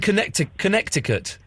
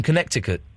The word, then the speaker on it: Connecticut: How is life in Connecticut? It's good. Why don't you pronounce the second C in Connecticut?